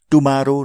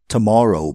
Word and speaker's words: tomorrow: यो शब्दलाई गलत उच्चारण गरेर टुमारो नभन्नुहोस् है tomorrow भन्नुहोस् मलाई फेरि एकपल्ट सुन्नुहोस् अनि तपाईँ भन्नुहोस् I'll start tomorrow.